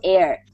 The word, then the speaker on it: heir: is now the legal Heir what's an heir h i r air so that way kind